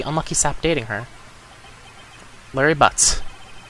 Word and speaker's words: Butts: Is that how you pronounce his last name, or is it like Boots? My best friend since grade school. He has nice hair. Our school had a saying, when something smells, it's usually the butts. Okay, so that is how you say it.